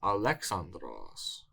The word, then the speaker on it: Ἀλέξανδρος: He's Alexandros or Alexander.